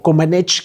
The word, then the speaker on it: Comaneci: Y bueno, empieza este proceso en la parte política, mientras que Nadia Comaneci, o Comaneci, que es como lo pronuncian, estaba ella en una